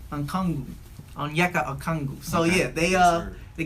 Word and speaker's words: Onyeka Okongwu: A couple How you pronounce that name? Onyeka. Onyeka. Onyeko. Onyeka. Onyeka Okongwu. Onkongu. Onyeka Okongwu.